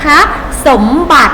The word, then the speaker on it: สมบัติ: สมบัติ สังเกต ไหม คะ มี สระ อิ อิ กำกับ อยู่ แต่ เวลา อ่าน ออก เสียง ไม่ ต้อง ออก เสียง ตะ เอง นะ คะ สมบัติ ทรัพย์ สมบัติ นะ คะ